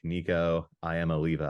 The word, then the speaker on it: Nico Iamaleava: Anyways, that means that 5-star quarterback, Nico Iamaleava, I believe is how you pronounce his name, will be under center.